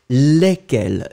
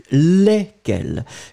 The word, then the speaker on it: lesquels: Lesquels. No S, you don't pronounce any S between the E and the Q. Lesquels.